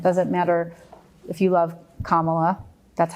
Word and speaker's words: Kamala: It doesn't matter if you love Kamala, that's how you say her name, or if you're a Trumper.